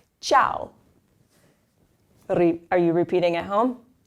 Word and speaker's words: ciao: It's ciao, because the C is followed by an I. Ciao.